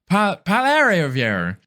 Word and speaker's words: Poilievre: I don't even remember how to pronounce it now. Poilievre.